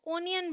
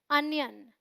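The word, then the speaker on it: onion: प्याज को ज़्यादातर लोग ओनियन बोलते हैं, जो बिल्कुल गलत प्रोनाउंसिएशन है। आपको क्या बोलना है? अनियन।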